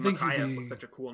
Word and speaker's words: Micaiah: a regular basis, and he said it the way it's actually supposed to be pronounced, and it's like that, Mackay. I've always thought the name Micaiah was such a cool name.